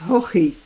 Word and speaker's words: Haughey: Now, okay, this is an Irish name. And since the English obviously know better than the Irish how to pronounce their names, they pronounce this Hoy. However, I understand that in Ireland it might be pronounced Hochi. But I have also heard it pronounced Hoche or Hohi.